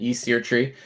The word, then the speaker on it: Fvckrender: We got Fvckrender, and by the way, that is pronunciation, Fvckrender.